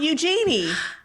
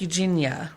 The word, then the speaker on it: Eugenia: It's not Eugenie. Is it? And it's pronounced like Eugenia, right? It is pronounced like Eugenia. Eugenie. I always thought it was Eugenia. Like an A at the end.